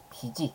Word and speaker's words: 빚이: 피지 같은 거 예도당이니 빚이라고 발음하면 안 되죠 그죠 지읒 소리 그대로 여름에서 비지 빚이 많아 빚을 다